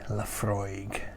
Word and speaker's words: Laphroaig: imagine the waves lapping laphroaig the beautiful hollow by the broad bay um so yes again it's got that aig at the end egg egg you get this at